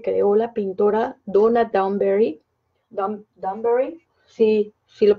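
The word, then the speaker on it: Dewberry: ¿Danbury? Sí, sí lo pronuncié bien.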